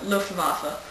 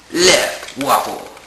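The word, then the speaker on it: Luftwaffe: in germany as the lofa well no no i think you're saying it wrong i think it's left waffle left waffle left waffle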